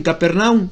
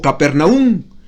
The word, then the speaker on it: Capernaum: Dice Juan que era oficial del rey en Capernaum, o Capernaum, como se puede pronunciar también, a aproximadamente 25 kilómetros de